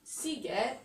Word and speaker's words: Sziget: Sziget Festival. Ok, là on retrouve, ma foi, le son S, festival, qui s'écrit donc S-Z.